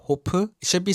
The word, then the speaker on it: 호프: In Korean, Hof is pronounced Hopu.